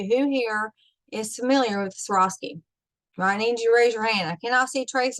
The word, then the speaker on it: Swarovski: apart said correctly so once you pretend that you asking you had an accident and you swore off skis okay and accidentally Swarovski now they made that